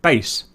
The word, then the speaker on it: BACE: These were known as Basic Automated Checkout Equipment, or BACE, pronounced BASE.